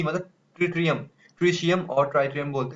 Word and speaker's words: tritium: Specially उसको pronunciation में ट्रिशियम बोलते हैं, TRITIUM।